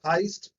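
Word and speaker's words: heißt: Now you will say that it is heist. Where is s? Only t is there. Already told to you that this asset, it consists of double s.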